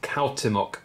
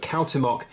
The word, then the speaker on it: Cuauhtémoc: So this, on this side, is the last emperor of the Aztecs, and his name is Cuauhtémoc. I have researched that, and that's apparently how you pronounce it.